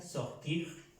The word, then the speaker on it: sortir: El verbo sortir, aquí vemos que termina en IR, se pronuncia sortir, como aquí partir, entrer, entrar, sortir, salir.